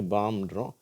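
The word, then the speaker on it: palm: L fill இப்ப பார்த்தீங்கன்னா இந்த வார்த்தைகள்ல எல் உச்சரிப்பே இல்லை காம் அப்படியே காம்ன்றோம் இது பாம்ன்றோம் இதுல உச்சரிக்கப்படுகிறது இந்த வார்த்தையில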